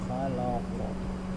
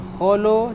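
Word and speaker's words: خلق: Min syarri ma khalaq. Khalaq. Khalaq. Jangan kholo tapi khala.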